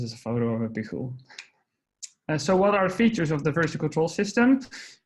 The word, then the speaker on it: Pijul: And Pijul is, well, for starters, it's a Spanish word, so that's why you have to pronounce it like that.